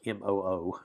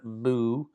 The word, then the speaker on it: mu: It's even though it's spelled mu, it's like MOO, mu, and this is an M sound.